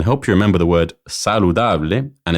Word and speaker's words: saludable: Porque es muy delicioso y saludable. I said, because it's very delicious and healthy. El ajo es muy delicioso y saludable. The Spanish word saludable, when pronounced with an English accent, sounds similar to saladable.